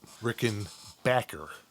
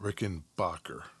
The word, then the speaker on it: Rickenbacher: to mid 30s 1930s it was spelled CH later changed to CK but the pronunciation would remain the same throughout Rick and Backer not Rick and Bacher that is how Adolf